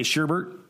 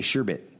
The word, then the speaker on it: sherbet: Do you say sherbert? Yeah. Sherbert. You say? I mean, is that how you say sherbert? Sherbert. Yeah. Yeah. Or some say sherbet. It's actually sherbet.